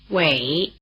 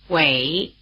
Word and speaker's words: Wěi: Wěi, Wěi, Wěi The diphthong "ei" is spelled EI as in Taipei, which is pronounced in Chinese like this.